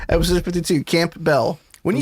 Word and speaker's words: Campbell: rejected i understand that the p is silent campbell soup you don't